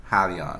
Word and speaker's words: Hyliion: helion it's it's pronounced halion so let's say for example if you have a friend and their name is leon and you say hi to them you say hi leon so that's how you